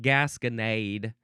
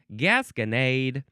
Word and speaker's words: gasconade: It's now the word Gasconade. Gasconade. It's like Gatorade, but it's from the region of Gascon.